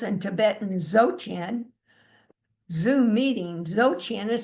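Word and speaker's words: Dzogchen: Zotchian is spelled B Z O G C H E N.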